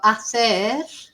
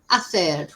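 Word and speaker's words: hacer: You've got ather, remember we don't pronounce the H, ather, which is to do or to make, and tener, which is to have.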